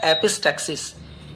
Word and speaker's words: epistaxis: नक्सीर, नक्सीर को इंग्लिश में कहा जाता है एपिस्टैक्सिस, EPISTAXIS, एपिस्टैक्सिस।